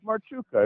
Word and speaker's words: Marchuk: The thing is it's not very hard for me because I got a Ukrainian background, so it's Marchuka. It's perfect.